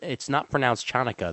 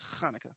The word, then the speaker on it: Hanukkah: It's not pronounced Chanukah. The C is silent in Hanukkah. It's Hanukkah.